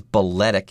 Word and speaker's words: balletic: Although the adjective is balletic, and you do pronounce the T there.